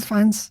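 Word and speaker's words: Fiennes: Yeah, it's spelled Ralph Fiendz and you say you say Rayines. Ray Fines.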